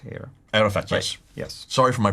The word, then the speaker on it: Arafat: of the hjj again it's a talking about Arafat here Arafat yes yes sorry for my pronunciation no no no I just want to